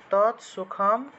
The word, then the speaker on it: তৎসুখম: তর নিচে অসন্ত থাকলে সেটা তৎ হিসেবে উচ্চারিত হয়। তৎসুখম সাত্বিকম সাত্বিকম প্রুক্তম প্রুক্তম